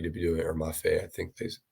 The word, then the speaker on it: Mafe: But yeah, so I think it's more just like they're gonna want Mafi to be doing it, or Mafe, I think is how you pronounce it. Or Mafe. Pete said Mafe.